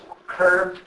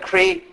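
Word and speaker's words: कृ: It comes from the Sanskrit root cur. It's pronounced something like the English word cur, as in you cur. So, and or sometimes pronounced like cree.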